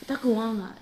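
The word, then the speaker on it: Dakuwaqa: But I can assure you that we did search this up, and it is pronounced Dakuwanga. Oh. So a lot of people think it's shark. Dakuwanga. Dakuwanga is the god of sharks.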